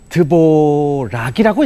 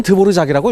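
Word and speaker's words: Dvořák: 드보르작이 사람 이렇게 씁니다 안토닌 드보락이라고 읽어야 될 것 같은데 이걸 우리는 드보르작이라고 읽고 있습니다이 사람 최고 사람이고요 체코어에서 저 알 자가 리을 지읒 발음이 동시에납니다 그래서 우리가이 사람을 드보르작이라고 얘기를 합니다 이분 정육점집 아들이었습니다 그래서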